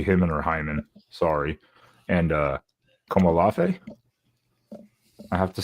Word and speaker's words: Komolafe: And Komolafe. I have to say that's how you pronounce it, Komolafe.